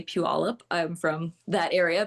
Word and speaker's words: Puyallup: My, I guess, stake in the claim is I know how to say Puyallup. I'm from that area, Puyallup, Washington.